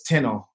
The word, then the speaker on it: Tintle: I'm from South Jersey we don't we don't ever pronounce the second T so it's like Scranton and Trenton so to say tintal and make sure that second team most people it's Tinnell yeah yeah that's how